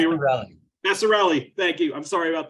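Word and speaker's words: Vasarhelyi: and wife, Elizabeth Chai Vesser. Vesser, I'm sorry, how do you say your Vassarelli? Thank you. I'm sorry about that. Vassarelli. It sounds like Italian, but it's actually Hungarian.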